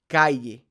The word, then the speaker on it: calle: a yeh yeh sound so think of the Y and the in the word yellow so yellow Calle Calle see how that sound is Calle but you'll also hear